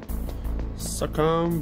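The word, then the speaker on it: SOCOM: Succom bullet. That's right, succom. That's exactly how you say it.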